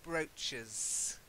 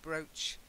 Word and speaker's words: brooch: and then brooch and brooches gorgeous facet I know it's a double O but it's one of those things you have to just learn it's not a new sound its brooch brooch of brooches for plural